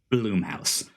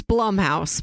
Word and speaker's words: Blumhouse: Bloomhouse. It's Blumhouse, but go ahead. Well, you know what? All right. Yes, so apparently it is being optioned by Blumhouse for an adult animated series, as well as a live action movie.